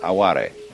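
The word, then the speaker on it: あわれ: aware it's spelled like our word aware only pronounced aare and this like yugen and sabii is difficult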